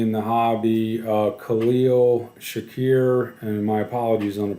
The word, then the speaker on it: Shakir: the hobby uh Khalil Shakir and my apologies on the pronunciation um I believe Shakir is correct uh he so he